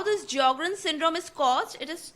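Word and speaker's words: Sjögren: in the disease of jogan syndrome the jogan syndrome the spelling the S is silent and how this jogan syndrome is caused it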